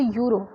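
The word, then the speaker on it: Euro: या फिर जैसे अगर मैं यहाँ पे से लिखा हुआ है मैंने शी हैज़ ए यूरो, अब यूरो में हमारा ई से स्टार्ट हुआ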